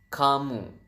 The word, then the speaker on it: kamu: u is kamu so Ka and mu so you have kamu and then how do